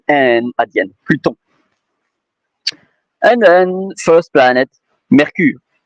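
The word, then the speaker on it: Mercure: And then first planet, Mercury. M E R C U R E. So it's like Mercury but with an E at the end. Mercur.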